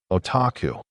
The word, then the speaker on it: otaku: It's always pronounced the same, otaku.